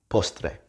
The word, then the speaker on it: postre: Just the O sound, okay? It's O sound. It's the O sound, okay?